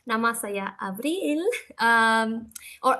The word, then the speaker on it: Avril: My bahasa Indonesia is kind of rusty, but at least I'm gonna say nama saya Avril, or Avril as it's pronounced in Indonesian, and saya dari Bolivia.